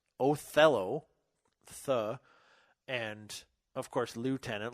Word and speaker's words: Othello: by British parents that you pronounce that Oh fellow because I've only ever heard it as Othello the and of course